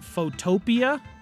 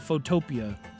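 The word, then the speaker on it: Photopea: of people pronounce it photopia um but it's it's actually spelled like Photo and then P like like the vegetable P EA um but a lot of people call it photopia let me let me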